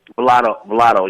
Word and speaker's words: Vlado: First off, and I'm sorry, could you pronounce that again? It's Vlado Footwear? Vlado, yeah.